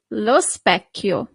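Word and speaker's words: specchio: So pay attention in Italian when you have c h i the sound is always c is never ch. Okay specio great the pen la feminine article for a feminine word.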